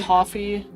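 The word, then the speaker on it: Ko-fi: It's pronounced coffee cuz the whole concept is pay for my cup of coffee.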